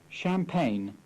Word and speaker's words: champagne: The silent G. Campaign. Sign. Champagne. Resign.